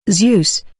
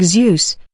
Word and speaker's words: Zeus: Zeus English pronunciation/zus/use ancient Greek Zeus pronounced Zus in classical Latic modern Greek das